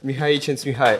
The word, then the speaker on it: Mihaly Csikszentmihalyi: So yeah, Mihaly Csikszentmihalyi.